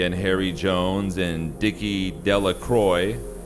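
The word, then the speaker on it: Delacroix: Bobby and Harry Jones and Dicky Delroy, the villagers pronounced this name Delacroy, eventually made a great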